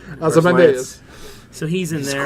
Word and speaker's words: Ozymandias: Ozymandias.